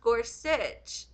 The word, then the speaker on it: Gorsuch: weird filler words oh Gorsuch is pronounced Gorsuch oh